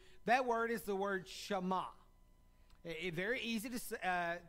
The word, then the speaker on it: Shema: in the hebrew that word is the word shama it very easy to uh pronounce it's s uh h e m a